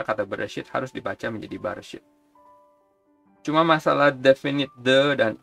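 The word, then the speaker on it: בראשית: Yang pertama Bereshit.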